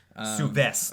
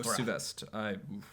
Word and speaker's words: Souvestre: Souvestre. Oh, Souvestre.